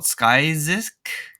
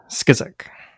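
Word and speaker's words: Skyzyk: It's what, Skyzisk? Skizik. Skizik? Yeah. Card called Skizik.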